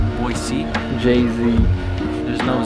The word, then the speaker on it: Boise: We're in Boise, pronounced B-O-Y-S-E-E. Boise.